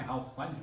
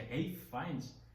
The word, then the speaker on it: Ralph Fiennes: Fines que na verdade a pronúncia correta do nome dele não é Ralf Fines mas é re Fines né que fique bem claro